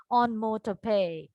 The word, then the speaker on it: onomatopoeia: Please mark the pronunciation. It is onomatopoeia, right?